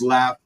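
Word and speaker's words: LAFF: got and that was laugh L A FF by the way correct two it rhymes with math that's right yeah no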